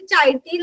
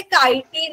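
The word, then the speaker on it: chitin: सी एच आय टी तुम्ही वाचताना कदाचित चायटीन वाचाल पण त्याच खरं उच्चार हे कायटीन आहे काय आहे बरोबर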